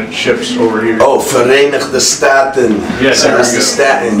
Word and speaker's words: Verenigde Staten: Because I don't know how to pronounce that. The other way to say United States when it ships over here. Oh, Verenigde Staten.